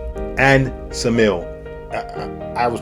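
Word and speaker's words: Ksamil: is Sarandi and Samil. I was pronouncing Kasm, but apparently the K is silent.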